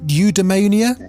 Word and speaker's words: eudaimonia: Am I pronouncing it right? Eudaimonia? Yeah, that's right.